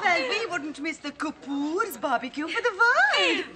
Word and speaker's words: Kapoor: you little how is Master Cooper these days these days pronounced Kapoor right it's awesome I hear